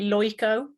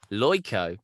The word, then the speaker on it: Lojko: make friends that way if you take the j and change it to a y it's actually pronounced traditionally loico lyco yeah is that it